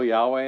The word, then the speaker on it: Yahweh: are pretty sure that the tetragrammaton is supposed to be pronounced Yahweh because of writings in Egypt so anyway Harry engravings